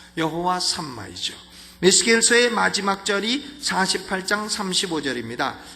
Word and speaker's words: 여호와 삼마: 있었느니라 이것이 여호와 삼마입니다 여호와 삼막 영어식 발음은 샤마 여호와 샤마 여호와 삼마이죠 예수께서의 마지막 자리 48장